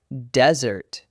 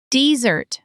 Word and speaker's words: desert: Desert, with the stress on the first syllable, is a dry place, like the Sahara. Desert, stress on the second syllable, means to run away from something, especially the military.